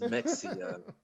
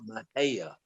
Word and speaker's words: Mexia: Honey, that's not pronounced Mexia. It's pronounced Mahia.